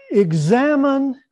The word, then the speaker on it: Examen: And so tonight we're going to look at the Examen, which is how we pronounce it in the southern part of the province, the Examen, and how it relates to the whole notion of conversion.